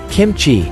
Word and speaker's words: kimchi: kimchi sauerkraut kefir and yogurt kimchi pronounced kim chi is a korean spicy